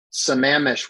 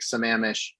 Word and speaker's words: Sammamish: understanding is it's in some amish washington and the only reason i know how to pronounce that word is because we stayed on the banks of lake sammamish in our rv on the